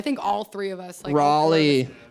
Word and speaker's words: Raleigh: all three of us Raleigh Raleigh they come on yelling at us because we said rally rally rally our New Jersey accent yeah and fight about